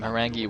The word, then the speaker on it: Horang2: why I'm calling him harangi when I wrote Harang 2 in the overlay that's not a typo uh apparently the two is like pronounced as an e in Korean I'm not really sure